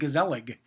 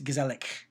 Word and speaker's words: gezellig: It's spelled Gezellig. So you might think gezellig, but it's gezellig. So yeah, a Dutch word.